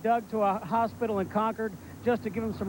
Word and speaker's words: Concord: Craven yes and Steve great job pronuncia that conquered not Concord that's right they slap you they